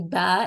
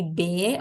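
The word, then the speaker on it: ب: so B is not the correct pronunciation that is not an Arabic letter only the pronunciation of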